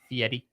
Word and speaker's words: Fieri: Fieri. The R is pronounced.